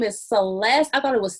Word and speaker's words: Celese: said your name is celeste i thought it was celeste like what a t there's no t but it's pronounced celeste or you can just